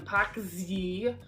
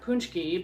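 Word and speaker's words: pączki: They're delicious, and you might call them pakzi, not punchki, but that's what how they're pronounced, believe it or not.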